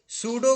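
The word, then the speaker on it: pseudo: code क्या होता है क्या प साइलेंट होता प एस यडी हा जिसम पी साइलेंट होता है वही उसे सुडो कोड कहते है पसो कोड ना बोल पस हो जाएगी तुम्हारे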